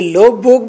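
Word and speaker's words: Løvborg: silent, आइलर्ट लोव बोग, आर को silent करना है बोग के, लोव बोग, लोव बोग, आइलर्ट लोव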